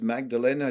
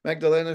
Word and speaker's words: Magdalena: podcast today on Calgary's podcast joining me is Magdalena chish who is a certified health coach and a public speaker thanks uh Magdalena for joining us today thanks for pronouncing my